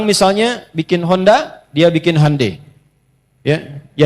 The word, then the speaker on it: Hyundai: Jadi Jepang misalnya bikin Honda, dia bikin Hai ya. Ya, Hyundai saya tahu bahasanya dibacanya Hai ya.